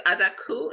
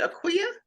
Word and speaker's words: Adaku: name it's ad d a KU so it's adaku is how you say that a d a KU a d a a d a aqu you said Aqua yeah hold on the spelling again hold on